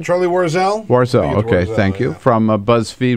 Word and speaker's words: Warzel: uh actresses Charlie war warzel from if I pronounce that correctly Charlie warzel warzel okay thank you from BuzzFeed will be joining